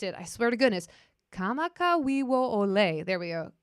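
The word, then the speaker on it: Kamakawiwoʻole: Kamakawiwo Ole. There we go. Kamakawiwo Ole.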